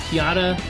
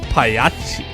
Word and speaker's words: Pagliacci: I would like you to pronounce the clown type. Piachi? Piata?